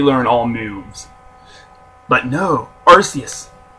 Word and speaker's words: Arceus: the name but there's technically three pronunciations for it in Pokemon doesn't even know which one they want to use so that's just how I'm saying it is Arceus it tries to be